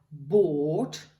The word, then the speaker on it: bought: il ne faudrait pas, parce que si on supprime ça, ça devient beaucoup plus simple, déjà. Et puis, le O, là, va venir se prononcer comme un O très profond. O. Donc, ce qui va donner ici buy, bought, et think, thought.